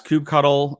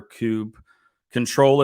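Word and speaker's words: kubectl: installed it also has cube cuddle installed or cube control if you prefer or couple whatever way you want to pronounce it that's a different workshop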